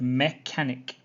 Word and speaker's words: mechanic: sure you understand so the word mechanic mechanic the ch is the same as a k look at the man